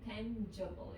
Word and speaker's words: tangible: a difference before mean tangible it's a soft G tangible means you think